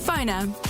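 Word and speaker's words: Phonr: That's spelled PFONR. Phoner.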